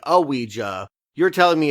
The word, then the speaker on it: Ouija: your name and so it is pronounced Ouiji or Ouija but it is two syllables I also found myself pronouncing it IGA for a little while and that is most certainly wrong so the other thing